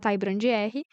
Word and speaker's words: TaiBrandR: Mas tá lá meu Instagram, @TaiBrandR, Tai Brand R, o D é mudo, tá? De todas as plataformas. É Brand com D mudo.